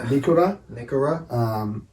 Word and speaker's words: Nikora: Nikora. The Aussie commentary sounds a little bit buzzy when they're saying it, I've got to say, but it's the Nikora, the Māori pronunciation there with that I.